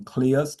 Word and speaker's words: Cleos: That's why I actually gave people the pronunciation of my name Cleos and I use the word nucleus.